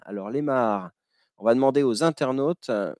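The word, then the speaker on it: maar: ces deux lacs sont ce qu'on appelle des mahars. Alors, les mahars, on va demander aux internautes, ça s'écrit M-A-A-R, allez, les internautes, essayez de trouver ce qu'est un mahar.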